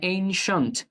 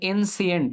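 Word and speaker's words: ancient: এনশিয়েন্ট তোমরা উচ্চারণ করো এনসিয়েন্ট, এটা যেটা একটা ভুল উচ্চারণ।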